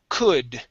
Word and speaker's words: could: your last one is could so just like good it's the same vowel sound okay uh so once